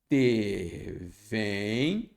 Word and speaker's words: intervém: Ele intervém. Sílaba tônica é a última.